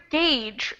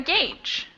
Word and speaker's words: gauge: what about the word gauge from the same paragraph this is a unique word because it's spelled totally differently than it is pronounced has anyone heard that